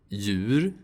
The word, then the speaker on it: djur: These combinations of letters also sound like y. Djur. Hjälpa. Ljus.